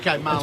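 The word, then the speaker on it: Marlion: And I asked how you pronounce it, and they said, well, his nickname's Fish. So it's pronounced, Marlon. It's pronounced like the fish.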